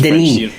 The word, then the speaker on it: Denis: It's Denis. You don't pronounce the S.